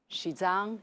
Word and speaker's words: Xizang: Xizang is the pronunciation of the Chinese name of the region.